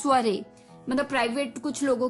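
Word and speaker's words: soirée: है, ये एक अटपटा सा वर्ड है, स्पेलिंग कुछ और है, प्रोनाउंसिएशन कुछ और है, स्वरे। स्वरे, जी हाँ दोस्तों, स्वरे, SOIREE, स्वरे, SOIREE, स्वरे।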